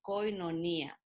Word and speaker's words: koinonía: griego tiene otro alfabeto no pero así la pronunciamos koinonía verdad y la palabra koinonía es una palabra